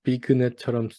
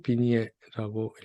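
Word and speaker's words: vignette: 쓰기는 비그넷처럼 쓰지만 비니에라고 읽습니다. 그리고 이렇게 여러 가지 그 정보를 알려주죠.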